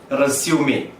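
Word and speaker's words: résumé: എല്ലാവരും ഉച്ചരിക്കുന്നത് റെസ്യൂം എന്നാണ്. എന്നാൽ അത് റെസ്യൂം അല്ല, മറിച്ച് റെസ്യൂമേ.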